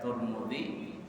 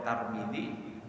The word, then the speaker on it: Tirmidzi: Nah, jadi boleh dibaca Tirmidzi, boleh Tarmidzi, boleh Tirmidzi, semuanya sama.